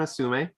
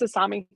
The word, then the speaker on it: Asami: So it was Cora and Asume. Is that how you pronounce it? It's Asami. Asami?